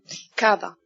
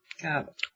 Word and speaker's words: Kaaba: Kaaba. Kaaba. Well, in Arabic it's a little different, but this is how you can pronounce it in English.